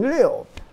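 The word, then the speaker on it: 六: And you pronounce it the fourth tone, Liu.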